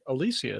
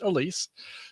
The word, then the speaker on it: Alsea: Everyone's like Alicia, isn't it? No, it's pronounced Elise.